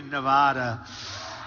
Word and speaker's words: Nevada: out here I said nobody says it the other way it has to be Nevada right and if you don't